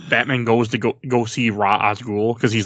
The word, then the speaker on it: Ra's al Ghul: You mean Ra's al Ghul? Yeah, I know I'm saying it wrong, but it's fine. No one ever says it right. No, I say it right.